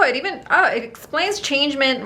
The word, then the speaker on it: changement: in france french so changement changement how would you if this was a french word changement how would you say it in french well first of all you wouldn't say mint oh really yeah oh